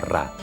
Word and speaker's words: Ra: un disco solar champán el nombre del Sol en el Antiguo Egipto se pronunciaba rah y en la parte